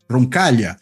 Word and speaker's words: Roncaglia: nome dele andé roncal Lembrando que roncal se escreve com gl né em italiano vai pronunciar que nem LH em português roncal né enfim mas sem